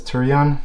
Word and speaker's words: Taurillon: word wrong it's the turian t-a-u-r-i-l-o-o-n uh monogram soft trunk um when i was looking at pronunciation it says turion that's how you pronounce it in a french accent which i'm not sure